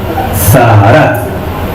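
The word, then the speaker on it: צרעת: Zaharat. T-Z-A-A-R-A-T. T-Z-A-A-R-A-T. Lleva tilde en la segunda A. Zaharat.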